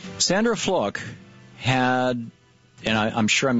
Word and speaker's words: Fluke: Sandra Fluke had, and I'm sure I'm mispronouncing it. I understand it's F-L-U-K-E, and it's pronounced like book.